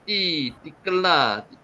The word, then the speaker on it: 띠끌라: 여기 된 발음이 나죠. 띠끌라, 띠끌라.